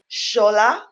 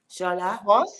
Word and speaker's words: Shola: Shola. Shola. Mos. Now, Mos-Shogbamimu. Mos-Shogbamimu. 4 syllables.